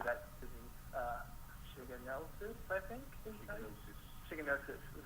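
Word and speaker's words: shigellosis: Shiganosis is how you say it.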